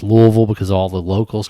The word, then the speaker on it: Louisville: like no it's not everybody around here says louisville and like i just remember i don't want to say it when i was moving here i was like how did the locals say they say louisville so i was like all right that's how you say it just say like you have marbles in your mouth absolutely say it like you're drunk yeah we all are